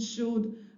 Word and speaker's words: should: Remember to tell the child that letter L in those three words is silent. So they are not articulated could, would, should, as some ESLs mispronounce them.